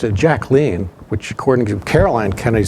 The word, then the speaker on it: Jacqueline: Jacqueline Kennedy, and by the way, it's not Jacqueline Kennedy. She pronounced it Jacqueline, which according to Caroline Kennedy.